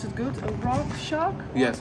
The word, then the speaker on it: Rakshak: And it's called, if I pronounce it good, Rakshak? Yes, Rakshak. Yeah, Rakshak.